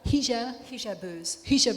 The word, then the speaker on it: Hijabeuses: Forgive me, I speak more Spanish than I do French, so Les Hijabouses, is that how you pronounce it? Yeah, hijab. Hijabeuses.